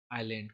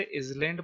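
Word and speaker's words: island: उसे हम कहते हैं आयरलैंड कुछ लोग इसे आयरलैंड पढ़ने हैं लेकिन ये गलत है आयरलैंड स्पेलिंग याद रखिए आई एस ल ए एन दी लैंड में इस लगा दीजिए आयरलैंड हो जाता है इसका प्रनंसीएशन पर समथिंग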